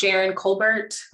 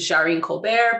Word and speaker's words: Jaren Colbert: okay so hi everybody my name is jaren colbert also usually mispronounces jareen colbert but i'm not that fancy i'm a software engineer